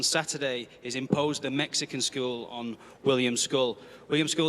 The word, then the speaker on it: Scull: William School, the reigning IBF 175 lb champion. And just for for clarity, William, it's school, right? All right, we're go William School with the pronunciation school.